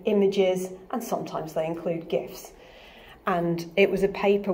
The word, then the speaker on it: GIF: Now, before we go any further, you may have heard this pronounced GIF. That is in fact the way the creator of that format prefers it to be pronounced. I do not prefer this because graphics begins with a hard G, and if it's going to be an acronym, then I feel like it should be said GIF.